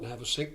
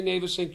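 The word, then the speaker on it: Navesink: and and um I used to call it nav Ayn my family used to call it nav Ayn but I talked to the local police and said how do you pronounce it they say navyn you say navyn how do you know what's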